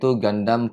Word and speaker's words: Gundam: The Japanese people pronounce it with a 'u' in the front... so it's Gundam...Gundam... Something like that. Then in 1980, Bandai began producing GunPLA... GunPLA is "Gundam Plastic"...